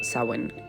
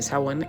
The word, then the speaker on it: Samhain: Este festival se llama Samhain. Se escribe completamente diferente, así que te lo dejo por aquí para que sepas cómo es.